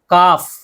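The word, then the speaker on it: calf: काफ, काफ में L silent है, तो देखिए एफ आई लास्ट में, एफ को हटा देंगे।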